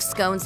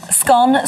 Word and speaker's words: scone: A 2016 survey found that 51% of Britons pronounce it to rhyme with gone, whereas 42% pronounce it to rhyme with bone.